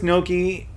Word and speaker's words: gnocchi: What is gnocchi? Gnocchi, pronounced gnocchi, are a type of pasta.